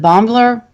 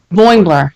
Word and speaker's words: Boimler: And then also, was it Bombler? I can never pronounce his name. Boimler.